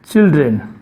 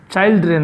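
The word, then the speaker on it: children: আর হবে চাইল্ড, এটা চিলড্রেন, চাইল্ড্রেন না, চিলড্রেন, এটা হবে উচ্চারণটা, এটা চাইল্ড, এটা চাইল্ড, কিন্তু এটা চিল, CHIL, চিল, ডি থেকে আলাদা হবে। যদি কেউ চাইল্ড্রেন তা না, এটা হলো চিলড্রেন, চিলড্রেন, DREN।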